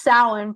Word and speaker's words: Samhain: my knowledge says another so it's sour for those who don't know how to pronounce it yes so I think